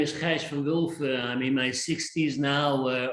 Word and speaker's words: Gijs van Wulfen: Gijs van Wulfen. Am I pronouncing it okay?